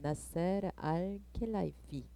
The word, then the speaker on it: 나세르 알켈라이피: 나세르 알켈라이프라는 분으로, 제가 발음을 좀 제대로 못하죠. 나세르 알켈라이피, président directeur général du Paris Saint-Germain이라고 써있죠.